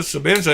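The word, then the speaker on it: Sebenza: I know it's a Sabenza, and it's spelled with an E.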